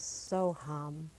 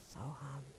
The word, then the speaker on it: Soham: In Sanskrit, these simple syllables mean I am that. Hum, Sa, also known as Soham. Soham.